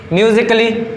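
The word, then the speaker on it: musically: जैसे कि म्यूजिकली, ये क्या है? यहाँ पर जो ए है तो डबल एल बाय आ रहा है ना, तो यहाँ पर ए क्या है? साइलेंट है।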